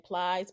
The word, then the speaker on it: Plies: Plies.